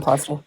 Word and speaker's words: Misoprostol: drugs, mifepristone and I never know how to pronounce the other one. Misoprostol.